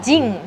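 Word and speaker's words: 人: Ahí en ese caso, en japonés se pronuncia Jin. Entonces es Nihon Jin, Chugoku Jin, ¿sí? Mientras que en chino se pronuncia, se sigue pronunciando Ren, sería Ripen Ren.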